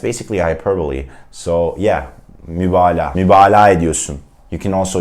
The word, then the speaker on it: mübalağa: Don't tend to say mübalağa. Some Turkish learners try to pronounce that soft G, but you would just say mübalağa. You would just make it a long ah sound, okay, mübalağa.